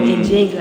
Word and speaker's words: Nzinga: strategy because of that great queen Nzinga, or Njinga as some would pronounce, and for its storytelling,